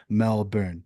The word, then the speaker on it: Melbourne: sure you call it Melbourne, not Melbourne. Mhm. Melbourne, like Burn. Almost get rid of the O. So just for further heads up when you talk with Australians, Melbourne.